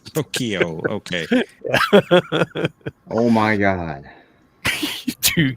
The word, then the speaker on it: Tokyo: Who is two key? Ooh, Say it right. Tokyo.